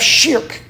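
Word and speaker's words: shirk: Indeed, Muslims consider the greatest of all sins to be the sin of shik. That's spelled sh h i r k. Shik.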